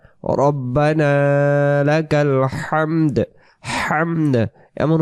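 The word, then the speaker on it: الحمد: তখন হাম ইম জবর হাম বলার কারণে দাল অক্ষরটা যে উচ্চারণ হলো না, এর অর্থ প্রশংসা হবে না।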